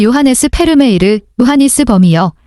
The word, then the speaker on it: 페르메이르: 1667년 경 1 요한네스 페르메이르 요하니스 범어에 범어의 외래어 표기는 현지어 발음을 우선하는 원칙에 따라 페르메이르 범어이다 이전에는 영어식 발음인 베르메르 흔히 썼다 요한 스 페르메이르는 얀